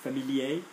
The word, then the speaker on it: familier: Okay, remember, the masculine R doesn't get pronounced if there's no E after it. So, le premier, the first, familier, particulier.